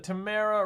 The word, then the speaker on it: Tamara: yeah Tamara says Tamara rhymes with chimera oh I hope we didn't say your name wrong or is it camera Tamra oh my gosh camera